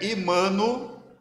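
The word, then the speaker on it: עמנואל: Esse nome, Emanuel, primeiramente ele foi pronunciado em hebraico, e em hebraico é Immanuel.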